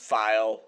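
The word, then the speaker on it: Phial: first off it sprouts file like f I am file also my throat is suddenly swear so um first off it's pronounced file I just looked it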